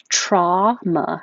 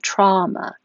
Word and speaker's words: trauma: say documentary this one you also have options trauma as in ah hot just single sound trauma which sounds the same as drama but spelled differently however you could also say this was a possibility in the dictionary that i wasn't aware